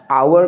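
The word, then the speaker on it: hour: यहां पर क्या है इसको अमेरिकन एक् एक्सट में आवर प्रोनाउंस करते हैं और ब्रिटिश एक्सें में आ एंड आवर ये दो डिफरेंट प्रोनंसिएशन है यहां पे एच साइलेंट है क्योंकि फ्रेंच में ना एच को प्रोनाउंस नहीं किया जाता है तो इस प्रोनंसिएशन को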